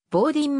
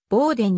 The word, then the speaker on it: Bowdoin: ことがあるが実際の発音はボーディンもしくはボーデンに近い棒銀大学は 1794